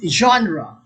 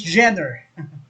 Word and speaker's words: genre: the term genre okay it's genre the thai people pronounce this gender the term genre refers